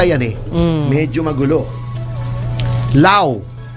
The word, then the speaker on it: Laos: Law yung laos laos pero law ang ano eh pronunciation diyan.